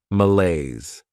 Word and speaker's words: malaise: Behavior next is malaise this word has two syllables and the stress is on that second syllable malaise this is not a